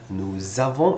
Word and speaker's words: nous avons: We also said we need to do the link. Right? It sounds like a Z because the next word starts with a vowel and this one ends with an S. We do the link, nous avons instead of nous avons.